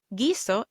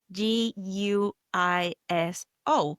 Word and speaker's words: guiso: Gizo is written G U I S O. And we know with the G or G. We don't pronounce the U. It's like it was written G I S O. We go straight to pronouncing the I.